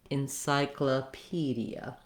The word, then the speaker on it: encyclopedia: And letter O in this word is in an unstressed syllable, so it's going to say vowel schwa. It sounds like So that syllable sounds like kla.